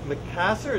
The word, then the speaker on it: Macassar: This is gonna be a back of a guitar, and you can see how this Macassar, is that the right pronunciation?